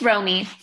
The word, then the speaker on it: Romy: pronouncing this correct where's ramy where's mommy on my screen here we go am i pronouncing that right romy it's romy romy romy okay romy